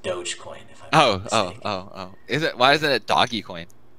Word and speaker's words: Dogecoin: Do you have Doggy Coin? No. It's pronounced Dogecoin.